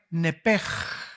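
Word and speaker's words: נפש: En otras palabras, esa palabra vida es la palabra hebrea nepej. Se escribe nepesh, que es la palabra que se le da para el alma.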